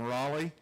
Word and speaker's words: Rolle: Actually, he pronounced his last name Raleigh. Is that correct? That is. That's right. Yeah. Even though it's spelled not like Raleigh. It's spelled roll.